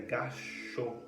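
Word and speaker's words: gasshō: meditação mãos que se juntam para meditar a pronúncia correta é gxo tá então é escrito g a SSH e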